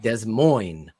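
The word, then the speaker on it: Des Moines: how it became silent like desz Mo they say Des Mo right they don't say the yes hey let's not get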